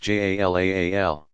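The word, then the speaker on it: جلال: God's names include about equally those that suggest divine power and majesty, Jalal, pronounced Jalaal, and those that speak of his beauty and infinite attractiveness, Jamal, pronounced Jamal.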